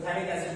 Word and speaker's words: phthalic: PH silent है तो थैलिक एसिड कहते हैं।